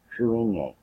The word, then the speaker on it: Cruithne: called three seven five three and it's pronounced truing Yang Ming yang I think I have a weird word but that is how it's pronounced crewing a alright so Earth's other moon made through NEA